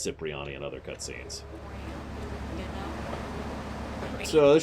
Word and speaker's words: Cipriani: nobody messes with Tony Capriati yeah bye that's actually supposed to be pronounced Cipriani the actor himself says it's Cipriani and other cutscenes so